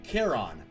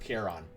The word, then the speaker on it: Charon: explored plude on Pluto's moon Charon or Charon whichever you prefer pronunciations kind of vary here then we'll stick with care on for example it's more